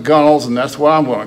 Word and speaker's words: gunwale: gum which is usually if it were pronounced phonetically it would be gunwale but the old salts called it gunnels and that's what i'm